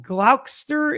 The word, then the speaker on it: Gloucester: Uh, Glsterster is Gloucester.